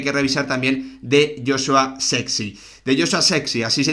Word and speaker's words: Zirkzee: se dice Joshua sirse no es sirse es sexy así lo decía él en en un vídeo en el que bueno pues hablaba sobre cómo se pronunciaba su apellido dicho esto como siempre